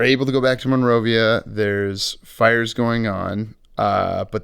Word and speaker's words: Monrovia: Is it spelled like how I think it is? Monroevi? No, take out the E. Okay. Monrovia.